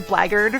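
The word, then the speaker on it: blackguard: same letters as blagard which is spelled like black guard but it's been pronounced blaggered for like centuries so i think that's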